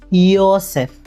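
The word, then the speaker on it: Josef: നമ്മൾ ആൽഫബെറ്റ്സ് പഠിച്ചപ്പോ പഠിച്ചു ജെ എന്ന ആൽഫബെറ്റ് ജർമനിലെ യ എന്നുള്ള രീതിയിലാണ് ഉച്ചരിക്കുന്നത് നമ്മൾ ഇവിടെ ജകക്ക് യാ എന്നുള്ള ഉച്ചാരണാണ് കൊടുത്തിരിക്കുന്നത് യോസഫ് ഇനി നമുക്ക് ഇതിന്റെ തർജ്ജമ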